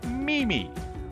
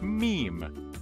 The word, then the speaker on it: meme: word on the Internet many folks around the world use two syllables and say Mimi but you should really just use one syllable and pronounce it as meme let's do some role-playing